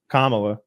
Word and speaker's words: Kamala: Like say what you want about Kamala. Did I say her name right? Yeah, you did. You did.